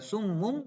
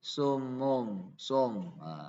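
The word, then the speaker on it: صُمٌّ: Misalkan dalam huruf dhamma ya, summun, ya bacanya bukan summum tapi sumum, antara itu, jadi nggak fokus ke dhamma.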